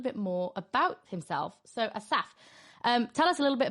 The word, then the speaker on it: Asaf: Well, first of all, thank you for pronouncing my name in the absolute correct way. Oh, is it right? Asaf.